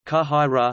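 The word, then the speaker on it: qāhirah: In the Cairo Egyptian Arabic dialect, a heavy syllable may not carry stress more than two syllables from the end of a word, hence mad ra sah school, kahai ra Cairo.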